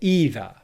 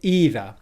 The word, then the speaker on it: either: either in british pronunciation i'll start with the first pronunciation of either in british english and i'm going to say i don't like it either i don't like it either follow along with me